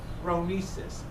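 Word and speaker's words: phronesis: word again has no translation in English it's row me sis P H ro NE s is not a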